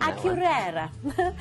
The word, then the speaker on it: Akureyri: Akureyri. I think even if I had, I couldn't remember like how to pronounce it.